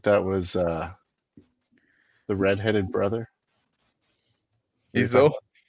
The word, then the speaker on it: Esau: Iso. Esau. Esau? Why don't you be Esau? Yeah, Esau. Yeah. Esau? Yeah, Esau. Yeah, I'm pronouncing it right.